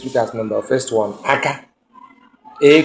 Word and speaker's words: aka: Each word the pronunciation will determine the meaning. Let's look at number first one, aka.